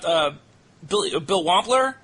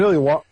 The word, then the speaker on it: Billy Wampler: then let's also not Bill Wampler. I'm sure I'm butchering his name. Billy Wampler. That's the right way to pronounce it.